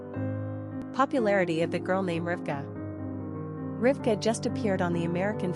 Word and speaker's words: Rivka: Pronunciation, Rivka, Rivka.